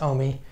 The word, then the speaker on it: AUMI: She came up with this idea and instigated this program called AUMI, A-U-M-I, which she pronounced OMI.